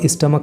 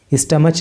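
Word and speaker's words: stomach: एंड द स्टमक, और स्टमक का मतलब होता है पेट। इसकी जो है ना, आप प्रोनाउंसिएशन पे ख़ास तौर से ध्यान देना। CH को यहाँ पे च नहीं बोलेंगे, स्टमच नहीं बोलेंगे, स्टमक। तो उसने रमानी की गर्दन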